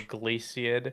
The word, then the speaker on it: Glaciid: Glaciid. Oh, yeah. Glaci. Yeah. Something like that. Yeah. Yeah. It's like not glacier, but glaciad.